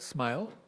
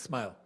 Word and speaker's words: SMYHL: So that's why it acronyms as SM YHL. So pronounces the same as smile.